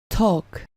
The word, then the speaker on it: talk: Continuamos con la forma verbal talk, del verbo to talk, que significa hablar. Como puedes notar, al pronunciar el verbo talk, no se pronuncia la L intermedia.